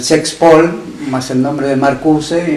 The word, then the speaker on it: Marcuse: Pero Marcuse, o Marcuse, como la pronunciación castellana exige, fue muy cuestionado porque